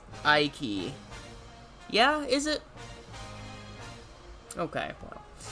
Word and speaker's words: Ike: It is not Iki. Iki! Icky Vicky is pronounced Ike.